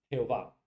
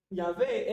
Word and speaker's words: Yahvé: cosas fonéticas del hebreo, la Yahvé es una reconstrucción posible del nombre. Es casi 100% imposible que se haya pronunciado como Jehová. Casi 100% imposible. Porque esta es la producción de esas consonantes con las vocales de otra palabra y transliterada en otro idioma. Pero Yahvé es posible, o Yahweh, pero es